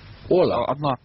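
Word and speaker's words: hola: Ола. Одно ола. Ну, потому что там непроизносимый H, но чтобы люди знали, что писать надо хола и восклицательный знак.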